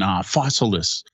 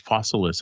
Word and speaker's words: Fossilis: like Creature Comforts and Fossilis. I think that's how it's pronounced, like Fossils with IS, Fossilis, I think.